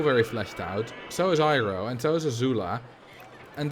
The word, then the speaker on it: Iroh: After, obviously, Iroh. Or Iroh, to say its proper pronunciation. But the movie, which doesn't exist, calls him Iroh.